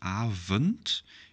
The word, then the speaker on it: avond: And the second one is quite an exception, avond. You don't pronounce it as an O, as an O or an O, neither a short or a long one. No, it's avond.